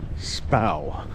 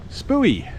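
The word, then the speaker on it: Spui: And the area we're in currently is called Spouw. I used to pronounce it Spooey for a year or something before I realized.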